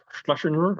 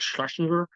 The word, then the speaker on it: Schlesinger: Schlesinger, I probably mispronounced that. I feel like when you say his last name, you almost kind of have to slur it. It's like Schlesinger.